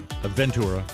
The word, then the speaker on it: Aventura: to pronounce things because I want to say a Ventura well that sounds more exciting but it's Aventura yeah Michael Murray show